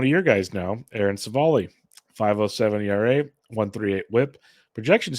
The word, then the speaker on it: Civale: It is Aaron Civale. Sorry. Yeah. Not Civale.